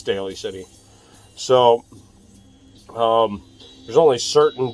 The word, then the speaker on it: Daly City: was like no it's dally City but no it's Daly City so um there's only